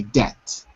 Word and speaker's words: debt: point is this Deb DBT is pronounced differently because you don't say the b you say debt debit yeah pronounce to